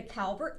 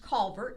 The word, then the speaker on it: Calvert: in the middle carrying the Calbert flag sometimes pronounced Calvert depending where in Maryland you live and they are in